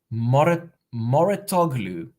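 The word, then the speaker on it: Mouratoglou: Ben helping me out with the coach's surname, Moratoglu. Is that correct? Am I pronouncing it correctly?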